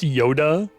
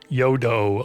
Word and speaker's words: Yodo: Is it not pronounced Yoda? Yodo.